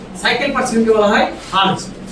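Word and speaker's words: hertz: Cycle per সেকেন্ডকে বলা হয় হারজ। হ্যাঁ। এইচ ই আর টি জি। হারজ। বল দেখি কি উচ্চারণ আর হ্যা আরেকটা শটে লেখা হয় চিহ্ন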